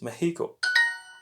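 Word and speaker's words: México: is the student so the correct answer is meheeco how do you say where don't like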